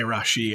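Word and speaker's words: Rashee: is going to carry everything and then when Roshi Rice I'll say Rashi Rice I don't know why I saw some pronunciation you see something once something about my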